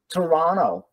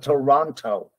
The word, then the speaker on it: Toronto: everybody some not everybody some people in North America will drop the T and just pronounce the n as in Toronto instead of Toronto okay as in Toronto